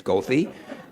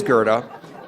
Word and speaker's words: Goethe: the CTA bus drivers routinely mispronounce as goofy but it is Gerda and I think he